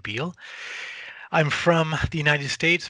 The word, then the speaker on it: Beall: is Beal and you spell my last name b as in boy e a l l pronounce it Beal I'm from the United